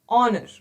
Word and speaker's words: honor: use an now we have something called as honor honor is silent here it is honor right so this